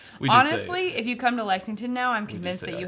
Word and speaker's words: Lexington: it they'll be coming that it's like he pronounced our Kansas all right Jeff it's okay point taken honestly if you come to Lexington now I'm convinced that you have to go